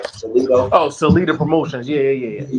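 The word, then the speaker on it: Salita: Like how you said, Salito. Is that where am I pronouncing that promotional name right? Salito. Oh, Salida Promotions.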